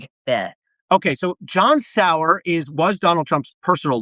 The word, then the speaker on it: Sauer: John Sauer, so am I pronouncing his name right? John Sauer.